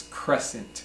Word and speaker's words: crescent: es si ent but the C is silent so this Crescent Crescent can be a